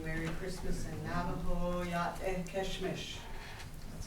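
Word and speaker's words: Késhmish: And I wanted to say happy holidays and wish you Merry Christmas in Navajo, Yat Keshmish.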